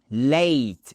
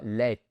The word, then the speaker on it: late: En retard, c'est évidemment late et pas let. La différence c'est que si vous dites let, vous prononcez comme un francophone. Et alors là, c'est difficilement difficilement compréhensible pour un anglophone. Donc il faut vraiment le faire à l'anglaise ou même avec un accent américain qui est un peu plus prononcé et dire late.